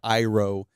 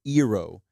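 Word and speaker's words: Iroh: know for three years you're just used to saying aang saka iro uh there was another one too that they also butchered they're not butchered but they kind of changed um but then you hear like ong soka ero what is that what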